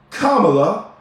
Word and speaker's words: Kamala: Or Kamala, and I'm going to say her name right. Because I'm going to trust that when she says her mother named her Kamala, and that's how they say the name, I'm going to believe